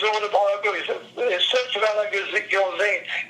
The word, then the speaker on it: Gilzean: Gilzine, Gilzean.